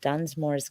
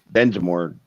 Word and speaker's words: Densmore: My drum kit is the replica of John Dunsmore's kit from the Doors. Densmore. Dunsmore? I thought it was Densmore. However you Americans pronounce it.